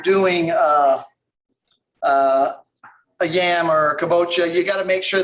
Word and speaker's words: kabocha: ahead valerie asks what about using am i pronouncing that correctly ochoa oh kabocha yeah actually i saw something in the store